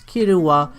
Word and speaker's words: Killua: Killua is based off the term kill or killer in English, however in Japanese his name is pronounced as Killua, which has the mix of kill, which is translated into kiru, and killer being kira.